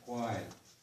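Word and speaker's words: Haida Gwaii: And then the double A-Y is like the I and lie, Gwai.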